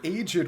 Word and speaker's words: aged: sculpted keeper our this aged Crone a and they did say aged with two syllables I got it right pardon me my where